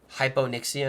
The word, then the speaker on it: hypoxia: a big push of some kind hyp niia hypoxia is how you pronounce that so we'll do this do this